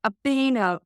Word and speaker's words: Obinna: have I pronounced that correctly? Completely fine, Belinda. Obinna.